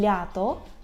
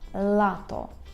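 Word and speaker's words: lato: правильно вимовити звук л Ми повинні кінчиком язика торкнутися верхнього піднебіння так і вимовляти л можете перед дзеркалом потренуватися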